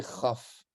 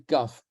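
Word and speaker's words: כ: Lorsqu'elle se trouve à l'intérieur d'un mot, cette lettre, elle est prononcée chaf. Placée au début d'un mot, c'est kaf. Ça se peut qu'on l'utilise parfois chaf aussi au début, ça dépend.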